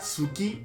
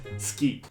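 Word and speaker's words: すき: No se pronuncia suki, es ski.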